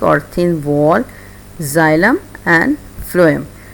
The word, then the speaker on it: phloem: PHLOEM फ्लोएम, the spelling is PHLOEM। ये इसको correction कर लीजिएगा, PHLOEM फ्लोएम।